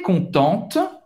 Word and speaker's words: contente: Para uma menina é contente. Você vai pronunciar o T no final.